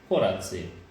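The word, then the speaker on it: koraci: For when you say next steps, you say koratsi. Yes. Which are very close to koratsi. Yeah. So when I'm very actively making sure that I pronounce the O in steps, because I don't want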